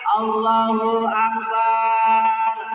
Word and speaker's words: Allahu Akbar: yang benar delapan ini harus dijaga atau belakangnya dipanjangin Allahu Akbar.